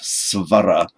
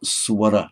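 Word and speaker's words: स्वर: And it tends to be pronounced as a w following certain consonants, such as s, for example. In modern India, you'd hear not svara, but swara, swa, swa.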